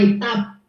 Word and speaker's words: Étaples: estaba en una zona que se llama Étape, se escribe Étaples, en el norte de Francia.